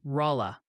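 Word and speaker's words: Rolla: They're loudly insisting it's pronounced Rola.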